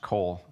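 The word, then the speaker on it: qol: in english it renders the hebrew word spelled in english q o l or pronounced col the lord speaks to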